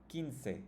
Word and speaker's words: quince: Quince. If you don't know the QU rule, why does it sound like K and we don't pronounce the U, you can watch the pronunciation video.